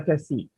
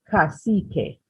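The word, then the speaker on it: cacique: was a paramount chieftain called the kasich or more correctly pronounced casique the paramount chieftain of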